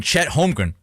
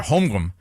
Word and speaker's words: Holmgren: in it at least i'm not calling chet holmgren chet holmgren or homgroom homegrown homegrown that's what they were calling him last night on nba tv chet home room i'm